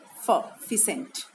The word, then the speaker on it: pheasant: नहीं होता लेकिन है, इसको बोलते हैं फिसेंट, कुछ लोग फिसेंट भी बोलते हैं, लेकिन प्रोनाउंसिएशन इज फिसेंट.